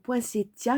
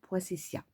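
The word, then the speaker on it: poinsettia: donc les poinctia donc poinctia j'ai eu le fa mot de l'histoire grâce à tadoun sur sa chaîne elle a parlé des Poa et on prononce comme ça et non pointessia voilà allez voir sur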